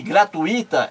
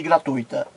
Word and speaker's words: gratuita: O jornalista estava assistindo ao programa e ele ouviu a jornalista errar, pronunciar várias vezes fluido em vez de fluido, gratuito em vez de gratuito e gratuita em vez de gratuita.